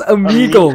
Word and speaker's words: Omegle: It's Omegle, Omegle. Finn. Omegle? Alright. Sam, why do you know so specifically how it's pronounced?